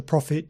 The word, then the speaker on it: prophet: a noun and interestingly the pronunciation of the word profit is exactly the same as for the word profit as in the Prophet Jeremiah or the prophet Isaiah from the judeo-christian tradition or of course the prophet Muhammad from the Islamic tradition different words different spelling same pronunciation profit profit profitable and now